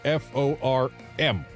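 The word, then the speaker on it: forme: It's your F-O-R-M. No E. Adding an E is wrong. When you add an E, it becomes something specific to the printing industry. A formie, pronounced form, of course, but form with an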